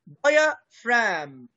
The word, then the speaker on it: diaphragm: محدش بقى يقول لي الجي اللي في الآخر ما بننطقهاش ليه؟ لأنها silent. diaphragm فرام، شفت الجي دي ما بنطقهاش، بقول diaphragm diaphragm الحجاب الحاجز.